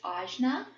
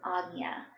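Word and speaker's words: आज्ञा: It's spelled phonetically how we would say in English, Ajna. And I've heard lots of people say it this way. There's not necessarily anything wrong with that. But in my yoga teacher training, I did learn that the correct pronunciation of our third eye chakra in Sanskrit was Ajna chakra.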